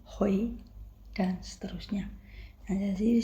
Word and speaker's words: hui: Ditulisnya H u I. Nah, bacanya bukan hui tapi hoi dan seterusnya.